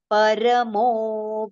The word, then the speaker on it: पर: Mat karma paramo bhava. It is not par. It is para.